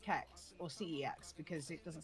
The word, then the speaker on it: CeX: is unfamiliar with uh it's actually pronounced sex, but I call it CEX or CEX because it doesn't sound right.